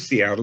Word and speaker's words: Seattle: would hear that as seattle and so i chose seattle because it's actually closer to the original pronunciation than self which is